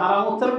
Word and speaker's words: হারাম: কোরআনে কিন্তু হেরেম শরীফ নেই, বাইতুল্লাহিল হারাম আছে, হারাম শব্দটা, কিন্তু তারা হারাম উচ্চারণ করতে চাই না, মানে তাদের জবান দিয়ে হারাম উচ্চারণটা হয়ই না, হেরেম বলে।